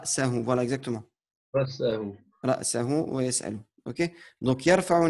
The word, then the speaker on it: رأسه: Tu as dit ra, sa, ou. C'est pas. Enfin, essaie de prononcer, malgré que c'est un peu plus difficile vu que tu es d'origine francophone, toi. Donc, ra, sa, hu.